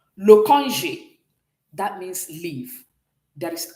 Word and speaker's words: congé: So when you put everything together, can you pronounce this for me? Congé. Oui, congé. Okay? So this is like you're saying this. Congé. Can we pronounce this? Everybody? Good. You can see that the E sounded congé.